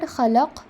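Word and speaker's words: خلق: When I am reading khalaq, it is giving you and everyone who is listening a sense that I am reading 3 different letters.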